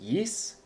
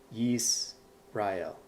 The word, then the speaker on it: Yisrael: This other word here that it gives us, this is pronounced Yisrael. Again, those with a keen ear recognize this is actually the word Israel. Yisrael.